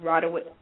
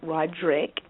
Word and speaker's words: Roderick: But on Monday nights, we just had Universal Mind with Roderick Watkins. I have to say his name slowly because it's not Roderick. It's Roderick.